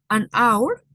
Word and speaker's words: hour: Entonces la H suena como una muda en español.